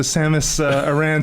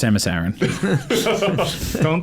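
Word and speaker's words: Samus Aran: There is no learning curve when you're taking out your kids with the Samus Iran spaceship.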